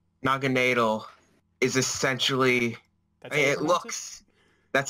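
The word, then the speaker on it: Naganadel: think it's weird how Naginadel is essentially... That's how I pronounce it. Like, I think Nadel's supposed to be like needle. I'm sure it is. I probably pronounce it wrong. It's officially pronounced Naginadel.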